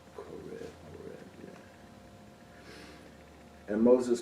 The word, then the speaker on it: Horeb: Is it pronounced right? Horeb, yeah.